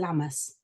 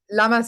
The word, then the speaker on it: Lammas: We've got the Lionsgate portal on the 8th, and yesterday was, I can never say it because it's spelt funny. Is it Lammas?